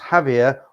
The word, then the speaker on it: Javier: Javier is pronounced Javier.